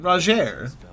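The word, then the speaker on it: Rogier: roger oh that's how you say his name roger was a formidable spellblade in times past don't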